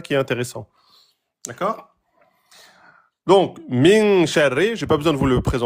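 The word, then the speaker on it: مِنْ شَرِّ: Hein, on fait 2 temps sur le noun, min sha, avant de prononcer le sha. Min sha. Soit vous collez la langue au palais parce que vous n'y arrivez pas, mais vous le faites bien en 2 temps.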